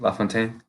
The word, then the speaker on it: LaFontaine: LaFontaine.